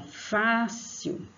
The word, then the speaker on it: fácil: Então, fácil, fácil, fá. O acento agudo na vogal A e o Fá é a sílaba mais forte.